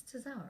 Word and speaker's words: Tozawa: not the revival, between DIY and Tajiri and Tozawa. Oh, okay. Is that how you say his name? Tozawa? Yeah. Yes. My brain just shut it, like, for a second. I was like, it's Tozawa, right?